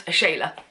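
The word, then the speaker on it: Ashala: it is early update it's not the interrogation of a shallow wolf it's pronounced a shayla well you find that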